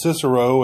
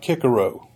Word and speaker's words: Cicero: any way he pleases, pronouncing Cicero as Cicero and not Kickaro.